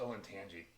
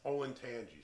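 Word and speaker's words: Olentangy: was so hot so i believe it's pronounced oh and tangy oh and tangy when i say tangy yes olin tangy sorry my apologies so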